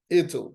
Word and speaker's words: it'll: Yeah, it'll, that they include the T in the sound of the contraction, right?